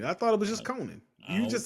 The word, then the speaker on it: Conan: you call that man Conan Conan O'Brien yeah why you got to pronounce it like that it's just Conan well because he said